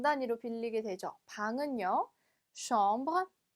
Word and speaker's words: chambre: 방은요, chambre, chambre. 네, 세 아쉬기 때문에 슈 발음을 내주시면 됩니다.